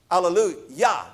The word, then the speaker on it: alleluia: of that word yah allalu yah the last syllable is actually the first syllable of god's name yahweh in the hebrew language